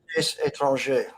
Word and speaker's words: Étranger: And I'm going to mispronounce this, but the Prix Médecine Étranger. Étranger.